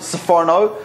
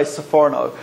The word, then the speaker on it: Sforno: Some people pronounce it Sforno, some Sipurno. I think probably soprano, but that has negative associations with Americans, so we prefer to say Sforno.